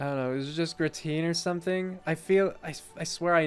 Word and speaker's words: gratin: I have to Google how to pronounce that word. Gratin? That sounds so boring. Gratin.